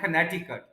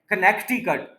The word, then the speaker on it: Connecticut: है वो ली है जिसका नाम है कनेक्टिकट, लेकिन लोग इसको कनेक्टिकट बोलते हैं, यानी ये जो सी है, ये जो अंडरलाइन वाला सी है, लोग इसको भी बोल देते हैं कनेक्टिकट।